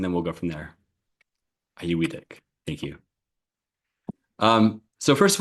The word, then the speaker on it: Auyuittuq: Auyuittuq.